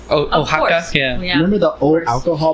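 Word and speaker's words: Oaxaca: I bet Xavier is name how do you spell that's an O A X oh ohaka yeah remember the old alcohol bottles that would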